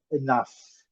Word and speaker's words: enough: Enough. O E com som do schwa e enough, a sílaba forte aqui, essa sílaba grande aqui. Lembrando, o GH com som de F e o mudo, enough.